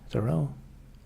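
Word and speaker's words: Thoreau: He's He's not going to buy me like Henry David Thorough.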